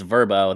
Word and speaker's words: VRBO: Yeah, it's I believe it's Verbo. That's what the commercials all say. So Verbo. Yeah, I've always wondered. I've looked at this. What the hell is this company's Yeah. name called? Verbo VR.